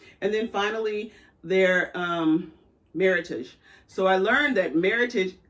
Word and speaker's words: Meritage: it i always say meritage so everyone says there's so many different ways but it's the word merlot and heritage makes meritage and there's a whole